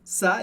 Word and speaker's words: ça: A gente tem a palavra ça, que significa isso, e aqui você percebe que o C cedilha em francês tem exatamente o mesmo som do português, sempre se. Por isso, comment ça?